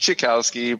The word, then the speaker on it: Cichowski: It's pronounced Cichowski, but nobody cares.